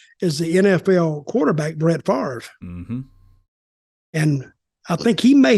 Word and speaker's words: Favre: on this already but Brett Favre not father apparently because that was the Something About Mary pronunciation that only I've heard but yeah he he's